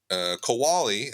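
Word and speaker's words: Qualley: You got Margaret Kowali, is how you say it, who is one of my favorite actors right now.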